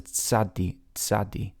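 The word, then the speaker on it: Tsadi: But it's sadi. Now people get stuck on this pronunciation sometimes, but I say, hey, say the word pizza. Now that tsa at the end, that's a tzadi.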